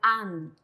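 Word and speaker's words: 앉: Aquí en la segunda sílaba, digo bien, se pronuncia la nien. Entonces, se va a pronunciar an. Y la chiet se omite, ¿sí?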